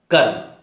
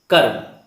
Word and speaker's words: कर्म: आधे रा का उच्चारण कर्म, कर्म, एक बार बोलिए कर्म, आप जान जाएंगे कि आधा रा है।